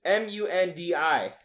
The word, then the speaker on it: Mundi: I like how you pronounce I don't know how to. It's Mundi is his last name. That's Monday.